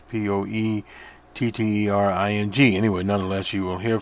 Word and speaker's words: Poettering: His name is Leonard Poettering, I think is how he pronounces Poettering.